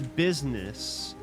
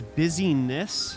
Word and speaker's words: busyness: It's busyness, not business.